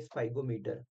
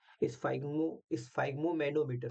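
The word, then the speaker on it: sphygmomanometer: और मैं आपको बताऊं इसको नाम देते हैं स्फाइगोमीटर। ठीक है, ये थोड़ा सा नाम टेढ़ा है, मैं इसका एक बार दिखा देता हूँ आपको। देखो, ये होता है स्फाइग्मोमैनोमीटर होता है, सॉरी।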